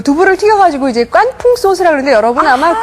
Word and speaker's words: 깐풍: 두부를 튀겨 가지고 이제 깐풍 소스라 그러는데 여러분 아마 그 중국집에 가시면 많이 들으셨죠 풍기 아 그러니까 그게깐 자가 말이에요 우리가 좀 거센 발음으로 된 발음으로 해서 까이지 한문으로 하면은 건조할 건자요 그래기